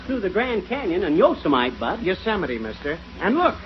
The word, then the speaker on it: Yosemite: these western names right it isn't Yosemite it's Yosemite oh yeah and what